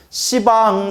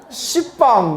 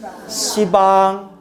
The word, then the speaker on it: 시방: 근데 왜 시방이라고 하는지 알겠죠? 발음이 너무 세. 한번 생각해봐요. 여러분 따라해보세요. 십방. 이런 십방 완전 욕 같잖아요. 십방 뭐 이런. 그래서 뭐라고 발음하는 거다? 시방.